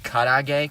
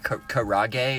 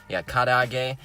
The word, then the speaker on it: karaage: on a stick so fried chicken in Japan is called karaage karaage if you don't want to pronounce it correctly ya kadhai gay it's a little different